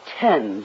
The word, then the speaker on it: Thames: into the Thames River oh Mr Mouse it's pronounced tens with us that's what the storm again I